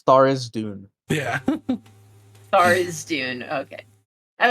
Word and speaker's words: Tharizdune: Jujubee, Yeah, he's either pronounced Jublex or Zuiblex. but also like Tharzadune is like Thurizadune. Yeah, Tharizdune. Yeah, and I was just like, nah, Tharzadune's Oh yeah, better. it's Tharizdune.